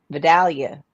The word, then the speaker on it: Vidalia: about VI Del onion I just never said it right growing up Vidalia is how we set it down here it don't matter long